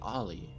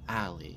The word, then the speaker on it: Allie: Like what happened to, is it Ollie? Is that her name? Am I pronouncing that right? Allie. It's Allie.